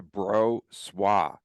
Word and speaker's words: Brossoit: Okay, so I sent you yesterday the official pronunciation of Laurent Brossoit, and everyone now is called on to Brossoit.